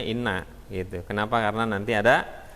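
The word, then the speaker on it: إنّ: Jadi kita nggak tahu ini baca inna atau anna gitu. Ya. Nanti dengan kaidah-kaidah ini kita tahu ini bacanya inna gitu.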